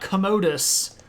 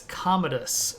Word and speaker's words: Commodus: sounding like a toilet it's not Commodus it's Commodus the accents on the first syllable but yeah I give you it does sound like a commode um he doesn't really